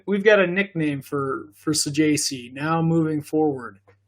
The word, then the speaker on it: Saggese: It's not how you pronounce his name, but this guy's name is Thomas Saggese. Ross, please say it for me because it's just stuck in my head. Saggese. Thomas Saggese.